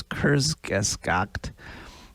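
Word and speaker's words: Kurzgesagt: k-u-r-z-g-e-s-a-g-t so i have no idea if i'm pronouncing it right but it's kurzgeskokt and um they released a video with the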